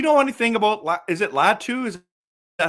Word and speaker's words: Latu: Is it Latu? Is that how you say it? Yeah, it's Latu.